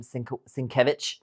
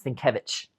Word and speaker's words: Sienkiewicz: I think that's how you say her name, Sienkiewicz. No, it's Sienkiewicz.